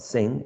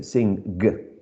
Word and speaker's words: sing: But the symbol representing the final sound of sing is only, is this one, because it's only one sound. We don't say sing, g, right? We say sing.